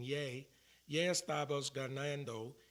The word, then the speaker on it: ya: It's not ya, it's actually saying yay.